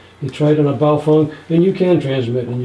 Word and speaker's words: Baofeng: Yeah, I think it was BAU, but yeah, it's Baofeng is the way it's pronounced.